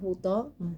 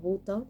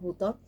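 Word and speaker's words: Butoh: Sí, en relación a la pronunciación, yo creo que la correcta es Butó, pero bueno, se entiende de alguna manera si uno lo pronuncia como Buto, pero creo que es Butó.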